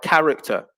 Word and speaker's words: character: exist in the pronunciation we can also see a similar effect with a silent h in words like character and chord so the words are pronounced as if the h doesn't exist in both cases but in the spelling